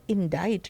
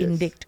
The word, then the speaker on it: indict: तो उन्होंने जब इंडाइट कहा, मैंने कहा इंडाइट जो मीनिंग निकल रहा है तो इंडिक्ट का मीनिंग निकल रहा है, क्योंकि सी लगा है और आई का प्रोनाउंसिएशन तो ई होता है। तो उसके बाद मैंने जाकर बाहर सुना तो इट्स वाज इंडाइट नॉट Yes. इंडिक्ट।